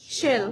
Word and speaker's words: shall: অনেকে শেল বলি, উচ্চারণটা কি হবে? Shall.